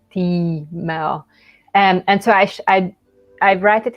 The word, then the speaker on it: Timea: like an I, but you kind of have like a long stripe over it, which kind of suggests that you should pronounce it like Timea.